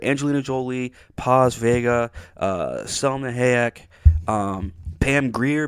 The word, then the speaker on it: Paz Vega: jolie selma hayek uh paz vega uh i mean uh pause video i believe is how you say it but nonetheless many of